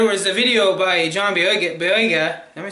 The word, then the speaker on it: Boyega: Anyways, when I got into the beta, there was a video by John Boyega.